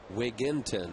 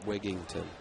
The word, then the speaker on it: Wigginton: Wigginton, right? Not Wigington. Very highly, widely mispronounced name.